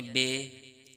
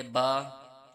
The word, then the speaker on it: ب: تلفظ سے پرہیز کریں، یعنی بے، تے، سے، ہے، خے، توئیں، زوئیں وغیرہ ہرگز نہ پڑھیں، بلکہ با، تا، سا، ح، خا، تو، ظا پڑھیں۔ عموماً آپ نے سنا